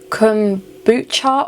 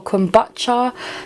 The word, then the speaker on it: kombucha: how to say it there's like two or three ways of saying it it's like kumbucha or kombucha so it depends on where you're from is how you pronounce it i believe i could